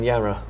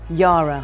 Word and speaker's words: Yara: Gemma Whelan, Yara Greyjoy, welcome to Thronecast. Thank you very much. Thanks for having me. I say Yara rather than Yara. Yara, I think so.